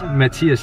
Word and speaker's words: Matthias: Matthias? Matthias in Danish.